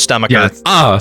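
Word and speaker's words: Stu Macher: It's actually It's pronounced Stomacher.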